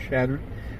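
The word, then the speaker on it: Chadron: the trader Louis chartran the French settlers of the Missouri pronounced it chatran which from which from this is the modern name of shadron evolved today the creek is shadin Creek and from the creek is the city of shadron received its name so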